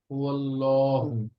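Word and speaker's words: هو الله: এবার দেখেন আল্লাহ শব্দের ডানে জবর এসেছে, কি হবে? হুয়াল্লাহু। হুয়াল মোটা হবে, মোটা হবে।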